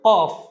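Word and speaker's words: كاف: কাফ হরফটা simple, কফ হরফটা high sound, কিন্তু কাফ হরফটা খুবই সাধারণ উচ্চারণ।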